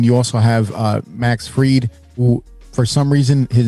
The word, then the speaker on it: Fried: also have uh Max freed who for some reason his name is freed although his name is spelled fried I don't understand that